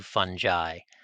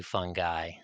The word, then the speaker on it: fungi: The only thing that I require is that you say one fungus or two fungi or two fungi. I'm a stickler about the singular plural thing, but not about whether it's a soft or a hard G.